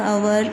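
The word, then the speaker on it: hour: Similarly we write an before words like आवर, honourable. अब उसी तरह से हम इसको भी, कई लोग हवर पढ़ते हैं बट हम स्टूडेंट्स हम इसको हवर नहीं पढ़ेंगे, हम इसको आवर पढ़ेंगे, एच साइलेंट होगा हमारा।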